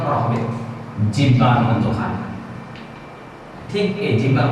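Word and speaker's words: ح: এই কণ্ঠের শুরু, মধ্যখান এবং শেষ ভাগ, এই গলা এবং কণ্ঠনালীর মধ্যখান থেকে এই হরফটি উচ্চারিত হবে।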